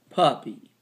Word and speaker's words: puppy: Puppy. Aw. Puppy. Pup. That's E, long E sound.